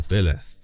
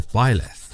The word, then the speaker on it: Beleth: Beleth, or Beleth as it's pronounced in Johann Weyer's Pseudomonarchia, or Beleth in de Plancy's Dictionnaire